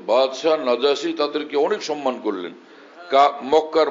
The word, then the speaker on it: নাজাসী: হাবাসার দিকে হিজরত করবেন নাজাসী লোকেরা কেউ নাজ্জা বলে এটা সঠিক উচ্চারণ নাজাসী বাদশা নাজাম হিজরত করে ওখানে